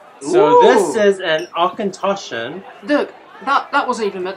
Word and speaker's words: Auchentoshan: Auchentoshan.